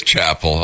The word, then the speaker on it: Chappell: you know you can here's how you spell my name the first p and the second L is silent well there you go exactly so that's why it is Chapel okay that's why hilarious